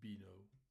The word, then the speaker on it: Beano: ont fait l'album qu'on appelle l'album B&O ou Beano, sur la prononciation anglaise.